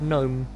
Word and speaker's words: gnome: look at the fact we have silent letters everywhere like the word gnome are you familiar with